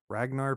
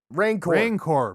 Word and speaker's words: Rancor: Ragnar pit or Ragnar or Reknar or Jeknar or Jacknar, Jackknife. Yeah, whatever. What is it? Rancor. The Rancor pit. The producers told us the Rancor pit.